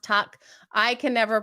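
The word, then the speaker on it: Tuch: I think Alex touch comes out here and has a great night it's pronounced tuck I can never pronounce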